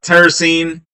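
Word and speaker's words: tyrosine: Uh tyrrosene. Um tire sounds like Y is the sort of pronounced sound in that.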